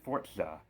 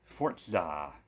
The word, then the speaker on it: Forza: why they call it that because it's a Forza game is it Forza or is it Forza they say it's pronounced Forza fortza like the like we'll place the Z with